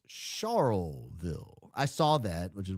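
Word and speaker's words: Charleville: had a giggle yesterday at your pronunciation of Charlville. It's Charlville.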